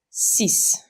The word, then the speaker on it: six: The X is pronounced as an S, so it's six.